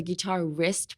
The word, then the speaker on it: guitarist: This guitarist, I would say, is the same pronunciation as your wrist on your arm.